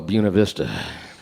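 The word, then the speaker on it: Buena Vista: They got a town over there they call Buuna Vista.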